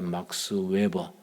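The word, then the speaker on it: Max Weber: 독일의 사회학자 막스 웨버, 독일식 발음은 막스 베버입니다.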